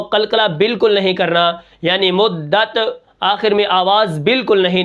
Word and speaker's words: مدت: کلمہ ہے وہ ہے مدت۔ اب اس کو ہم کس طرح پڑھیں گے، اس کے ہجے کس طرح ہوں گے، میم دال پیش مدال، تا زبردت، مدت وقفاً مدت۔ اب یہاں پر دیکھیں